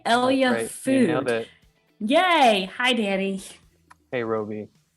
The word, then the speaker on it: ELYA: was my first question how do you pronounce this thing it's like capital e capital y capital l capital a i mean yeah yeah we want it to sound like hell yeah because we want people